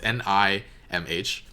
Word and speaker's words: NIMH: I don't know how to pronounce it. It's Nimh.